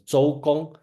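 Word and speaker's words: 周公: So this person, Duke Zhou, okay, and Chinese pronounced as Zhou Gong, is probably well, should I say the most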